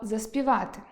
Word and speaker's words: заспівати: Друге порушення, яке можна почути, - помилкове наголошення слова «заспівати». Воно має звучати .